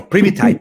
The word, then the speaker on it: Primitai: Thai, Primitai.